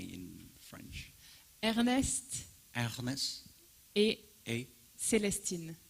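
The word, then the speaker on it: Célestine: it called Ernestine in French how do I pronounce it correctly in French Ernest a a Celestine Celestine yeah um so as you can see uh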